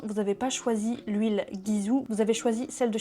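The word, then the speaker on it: Gisou: avez envie de prononcer Jizou faites-le il y a pas de souci mais sachez que ça se prononce bien guizou parce que ça je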